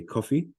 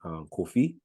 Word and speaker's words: Kofi: For example, at the very top, you see there a coffee, Yes, right? Which in phonetic English is spelled C-U, in most cases, spelled C-U-F-F-E, C-U-F-E-E. And that coffee refers to the Akan name Kofi, but also Kwafi.